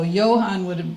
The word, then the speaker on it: Johann: More like a Y. And so Johann would be pronounced that way, but it's the German equivalent of the name John.